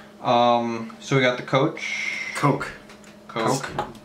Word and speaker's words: Koch: Coke. Whatever. Say it right. Come on. It's not C-O-C-K, it's C-O-C-H. Yeah, just like Heckler & Koch, the gun company that everyone knows about.